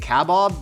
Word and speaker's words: kebab: And I'm also probably pronouncing it kebab because all the places around me are Persian, and that is the pronunciation, correct, Nicole?